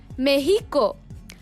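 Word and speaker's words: México: also you should know that this word is pronounced meheeco and this word is pronounced more Quito now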